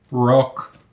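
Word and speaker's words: Roq: it over to you full name Rock r o q Rock we have a hearing problem I'm sorry I just want to make sure that I am pronouncing it correctly Rock very good age 25 going to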